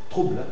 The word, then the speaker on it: trouble: Es una sola sílaba. La muda final te parece que está susurrada porque hay ble, pero si no, trouble, una sola sílaba.